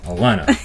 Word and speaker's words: Alana: Did I pronounce that right? Is it Alana? Alana? Alana.